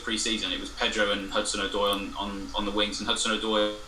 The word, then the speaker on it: Hudson-Odoi: Hudson Odoi, or is that how I pronounce it?